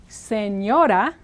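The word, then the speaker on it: señora: means ma'am or M now think of this first syllable sin I'll rewrite it like this just for fun sane as in not crazy and the second syllable like the character from Star Wars Yoda s Yoda s Yoda s Yoda it's not perfect but it gets you very very close to the Spanish R let's look at a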